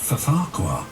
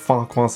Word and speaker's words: Farquhar: And that mistake being Michelangelos' pronunciation of Farquhar, with the silent second F in the name. My favourite station is Farquhar, said Thomas.